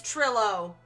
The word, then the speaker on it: Trilo: The name is a pun on the word vent. Oh, ventriloquest. OH, OKAY. SO, IT IS TRILLO.